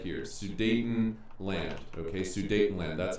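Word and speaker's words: Sudetenland: Dayton Germans talking about this word right here sue Dayton land okay sue Dayton land that's how it's spelled and in this region here get us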